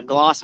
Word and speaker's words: Glass: town called the uh gloss mountains and uh they call them gloss but it's spelled glass so the guy that